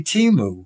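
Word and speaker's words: Temu: How to pronounce the name of this. Yes, Sims to Rachel. Okay. She said it's simply Timu.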